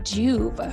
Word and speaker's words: Joovv: This episode is sponsored by Juve Red Light Therapy.